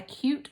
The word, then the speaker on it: cute: My sister saw a cute rabbit while she was on a hike. My sister saw a cute, silent E over there, making it say its name, cute rabbit, while she was on a hike.